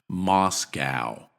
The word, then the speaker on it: Moscow: believe Anton lives in Moscow Moscow here we have the same vowels as in Anton but in Reverse instead of a a we have a a Moscow Moscow Moscow MOS and